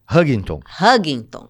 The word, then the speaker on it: Huntington: Como é que é a pronúncia? Huntington, exatamente.